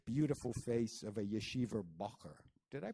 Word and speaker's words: bocher: A few years younger than Miranda, Isaac had the doughish, beautiful face of a yeshiva bocher. Did I pronounce that right? Bocher.